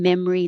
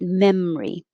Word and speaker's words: memory: the noise walk down memory lane and instead of memory which is fine to say it's not wrong most people shorten it and make it memory i should say memory